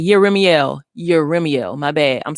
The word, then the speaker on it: Jeremiel: Like Yeremiel. Yeremiel. My bad. I'm saying Yeremiel because the Hebrew, the J is a Y.